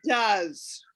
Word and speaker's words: does: I know it doesn't make any sense, does it? But here's the tricky part. For do, it's pronounced does.